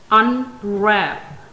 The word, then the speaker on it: unwrap: Our next example is unwrap. Unwrap has two syllables. The syllable wrap has primary stress upon it, as you can see. The symbol of primary stress on the top at the beginning of the second syllable. This mark shows secondary stress at the beginning of first syllable.